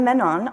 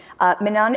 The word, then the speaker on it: Menon: from trinkle With Love Menon is an active Twitter account where she reminds her readers that her name rhymes with stunni Ameland which i think is